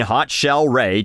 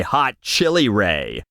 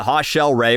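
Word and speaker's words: Hot Chelle Rae: tonight tonight in 2019 hot shell Ray tweeted how many Michelle's out there have had to shed some light on how to pronounce our name to people who say hot chili Ray and I think it's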